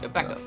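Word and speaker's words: Baekho: Don't pronounce the H, right? Becko.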